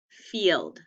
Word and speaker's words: field: 2 syllables, out, field, E-E-Eld.